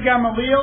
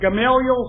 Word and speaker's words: Gamaliel: out elsewhere he studied under the top teacher gamaliel or gamaliel some pronounce it i was you know in that